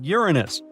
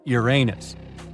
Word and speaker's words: Uranus: Actually, astronomers say we should be pronouncing it like Uranus, not Uranus.